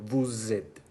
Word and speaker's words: vous êtes: Une particularité de la liaison à retenir est que les lettres S ou X se prononcent comme Z. Z. Les ont acquièrent une sonorité, comme le cas de vous êtes.